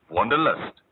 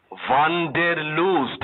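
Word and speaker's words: Wanderlust: যার মানে ভ্রমণের নেশা ওয়ান্ডারলাস্ট হ্যা কিন্তু তোমার মত উচ্চারণ করেনি ওয়ান্ডদের লুজ এইতো কথাটা ইংরেজিতেও ব্যবহার হয় আর যখন হয় তখন ইংরেজি উচ্চারণই হয় আমি আড়াই মাস ধরে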